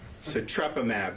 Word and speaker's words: Sotrovimab: How do you pronounce it? Sotrovimab.